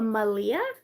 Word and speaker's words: Malia: Oh, it's pronounced like Maria, but with an L instead of an R. Oh, a Malia?